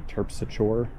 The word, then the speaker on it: Terpsichore: Terpsichore tends to be Terpsichore. Melpomene is pronounced Martin Luther King Jr.